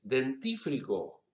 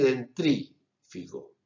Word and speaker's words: dentífrico: ¿Cómo dicen ustedes? ¿Dentífrico o dentrífico? Bueno, se dice dentífrico, pero mucha gente dice dentrífico.